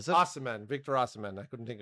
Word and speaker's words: Osimhen: uh Victor Arason from our How would you pronounce his name? Arishmen? Osimhen, is it? Osimhen, Victor Osimhen.